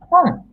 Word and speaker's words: 本: 本。本. In Japanese, we pronounce H. It's different from Spanish.